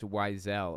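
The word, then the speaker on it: Wiesel: Thanks For Truth BTW weisel is pronounced wisel oh okay I didn't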